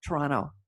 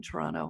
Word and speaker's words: Toronto: who claims in Toronto Toronto you know you swallow the tea Toronto I get yelled up by locals you don't say it right I'm sorry Toronto and